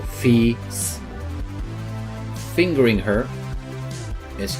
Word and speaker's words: fis: So the first part would be pronounced like the first part of feelings. So we have fi. And then we just add a short S at the end. So, fis.